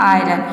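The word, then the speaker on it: iron: आयरन में आप देख रहे हैं कि आई के बाद आर आ रहा है, लेकिन हम यहाँ पे आई को अ प्रोनाउंस नहीं कर रहे हैं, यहाँ पे आई को हम आई प्रोनाउंस कर रहे हैं, तभी इसका प्रोनाउंसिएशन हो रहा है आयरन।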